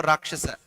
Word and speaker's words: Rakshasa: So you will know the exact pronunciation, whether it is Rakshaka or Rakshasa. Ra, that above A you will get that line for Rakshasa.